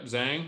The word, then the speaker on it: Zhang: am I pronouncing it right? Yep. Zhang.